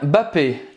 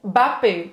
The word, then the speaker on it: Mbappé: Mbappé. Mbappé. Kylian Mbappé. E tem alguns jornalistas que falam só Mbappé. Kylian Mbappé. Kylian Mbappé, sem pronunciar o M.